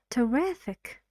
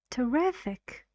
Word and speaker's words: terrific: very short very small and very quiet say terrific terrific how many three three syllables and distress is on the second riff